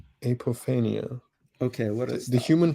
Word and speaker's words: apophenia: But so have you heard of apophenia before? say that again. I think it's pronounced apophenia.